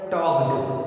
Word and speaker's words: talked: टॉक्ड, TALKED, टॉक्ड। ध्यान देना, ये जो L है ये साइलेंट है, इसका प्रोनाउंसिएशन नहीं हुआ।